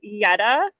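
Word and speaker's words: Jeta: So yes, my name is spelled JA, but it's pronounced Y TA. Yeta. Um, I'm Albanian, so the J is like pronounced Y in the Albanian alphabet.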